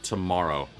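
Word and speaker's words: Tu Morrow: Someone decided to name their daughter Tomorrow. But it's pronounced it's spelled T-U space Morrow, M-O-R-R-O-W. It is an uncommon girl name,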